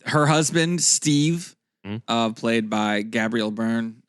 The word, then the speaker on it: Gabriel: Her husband, Steve, played by Gabriel Byrne, or Gabriel, I guess. If we're in America. Gabrielle, if you want to be, pronounce it correctly.